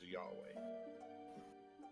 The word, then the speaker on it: Yahweh: say so you could yes my name is yahweh yahweh how do you spell that y a h w e h w